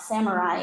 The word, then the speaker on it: samurai: throughout my presentation today I'll be using the westernized or Americanized version of the pronunciation of the word Samurai uh if we were using Japanese it would be samurai but what's happened is the